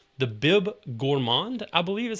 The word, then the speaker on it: Bib Gourmand: And they have a category called the Bib Gourmand, I believe is how it's pronounced.